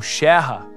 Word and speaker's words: Scherer: Para muitos, assim como no caso de Emil Clemens Scherer, ou Scherrer, como era a pronúncia correta, a reintegração da Alsácia como território alemão foi um sonho que durou pouco.